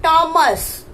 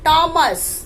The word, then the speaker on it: Thomas: Here H is silent, H sound is not there. So here it is called Thomas. You have to pronounce it as Thomas, not Thomas.